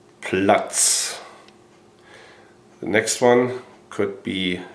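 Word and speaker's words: Platz: Down in German is plut. Plots.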